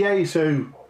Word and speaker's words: Yaesu: Yeah, you missed the E out because it's. I even have to look. It's Yaesu. Yaesu.